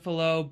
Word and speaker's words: Fallot: mean, really, Pulmonary with tetralogy of and flow, with or tetralogy of flow, pulmonary atresia. I never can get it right. It's one of the two. It's reverse. I've always been saying it wrong my whole life.